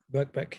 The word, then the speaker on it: Birkbeck: How I'm pronouncing it? Yep, Birkbeck.